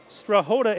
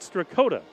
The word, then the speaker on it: Strahota: emailing just to say it's strahota and not strakota but just got back